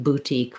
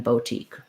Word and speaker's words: boutique: But brooch with an O, bouquet, I probably use bouquet more often than bouquet, and then boutique rather than boutique.